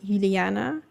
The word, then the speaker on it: Juliana: But I was like, if you want to know how they would be pronounced in Dutch, it would be Ulana, Batrix, and Marit.